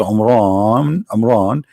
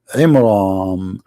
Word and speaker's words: Imran: pronounced the name wrong because it's not Amran, it is Imram, which means the last letter is M, not N.